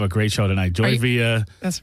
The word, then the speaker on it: Villa: You did say Villa, but it's Villa.